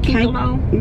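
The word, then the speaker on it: Kanekalon: Well, that's how you pronounce it. Cankalone.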